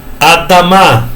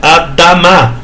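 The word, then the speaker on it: אֲדָמָה: Isso aqui é um M e outro A, Adamá, tá vendo? Aquele negócio de sílaba tônica, às vezes tem, às vezes não tem, tá? Então não é uma regra fixa. Vocês viram que tem duas ali? Adamá.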